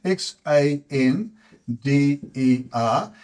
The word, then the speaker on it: Xander: I've got for X are Xander for males x a n d e r and that would then be pronounced Xander it's the way in which it's